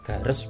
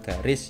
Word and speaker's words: gares: sini namanya gares ya bacanya gares bukan garis ya sekarang ada nah